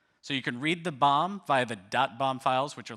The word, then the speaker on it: BOM: of materials or B otherwise pronounced like bomb so you can read the bomb via thebomb files which